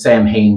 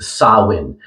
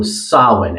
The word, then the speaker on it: Samhain: so you may want to read this as Sam Hayne but it's actually pronounced sawin so sawin and it's a it's a galic or Celtic